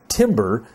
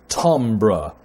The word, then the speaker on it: timbre: harmonics and overtones and i know it looks like the word should be pronounced maybe timbre but it's not it's Tam bird or Tom brah if you want to